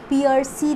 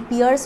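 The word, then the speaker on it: Piercy: और बाकी पियर्सी तो आपको पता ही है, PIERCE पियर्स होता है, और उसके बाद एक Y है इसीलिए पियर्सी।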